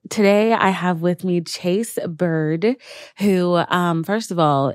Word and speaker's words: Chayse: Today I have with me Chayse Byrd, who, first of all, is not spelled the regular way. It's spelled C-H-Y. So close. C-Y? C-H-A-Y-S-E. Shocking.